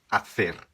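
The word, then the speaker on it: hacer: vou citar para vocês o verbo fazer em espanhol é com h né A H Esse é o verbo no infinitivo em espanhol fazer é afer afer tá quando você colocá-lo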